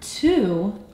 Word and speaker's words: to: In the word two, the letter O is going to represent the ooh sound. And this is a part that we have to remember with our heart since it is irregularly spelled.